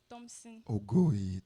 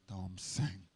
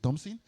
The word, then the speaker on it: Thompson: should pronounce my name Thompson Thomson okay okay okay is it is it the same pronunciation oo Thomson oo Thompson well um congratulation you are right my name is Thompson and you're also right